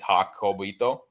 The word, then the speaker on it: Jacobito: So the reason I did that is just obviously people have trouble saying my name, so that's how you literally say it. It's Jacobito.